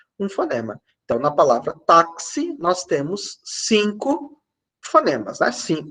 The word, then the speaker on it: táxi: de KS por exemplo a palavra taxi palavra táxi tem um x com som de KS que que a gente